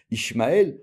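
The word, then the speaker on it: ישמעאל: vous savez tous que dans Ismael Ismaël le Alef il est pas ponctué on le prononce pas les gens ils veulent mettre le chemkel mais il y a pas làbas Ismaël maintenant quand vous prononcez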